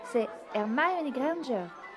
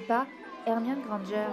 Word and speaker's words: Hermione Granger: Et puis d'ailleurs, tu ne sais même pas le prononcer. C'est Hermione Granger et pas Hermione Granger.